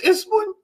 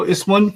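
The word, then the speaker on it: اسمٌ: When you speak in Arabic, you don't necessarily pronounce the last harakas. Mhm. But now that we're learning Arabic, we're going to get in the habit of pronouncing the last harakas, because that helps us get our Arabic better. So ismun, fi'lun, and harfun. If you say ism, fi'l, harf, it's okay.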